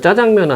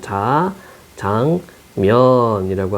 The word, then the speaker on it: 자장면: 연구 덧붙였다 이게 뭐냐면 한자어는 한자어는 된소리로 발음을 안 해요 그래서 짜장면은 한 자가 있어 작 자미이라고 하는 자 장면이라고 하는 이제 한자가 있어요 한자가 있기 때문에 짜장면으로 발음하면 안 되고 장면이라고 발음한 겁니다 이게 표준 구어 대사전 즉 표준 발음이었다 사람들이 짜장면 짜장면 하니까 표준어가 된 겁니다 그래서 복수 표준어 그 자장면이 해도 되고 짜장면이라고 해도 되고 그래서 이거는 요렇게 이제